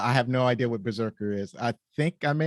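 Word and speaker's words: BRZRKR: want to find it it's BR R ZR KR Berserker yeah all right let let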